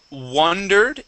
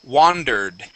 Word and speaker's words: wandered: Instead of wondered, it is wandered.